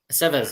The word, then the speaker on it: Aceves: And he said we pronounced his name properly. Aceves. Okay. Aceves.